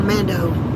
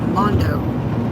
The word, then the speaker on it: Mondo: Texas, where I'm from, that spelling is pronounced Mondo. For the Hispanics down there, their name that are named Mondo.